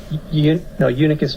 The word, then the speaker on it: Unicus: Unicus Magazine. Unicus Magazine. Yeah, it's Latin. It's spelled UNICUS Magazine.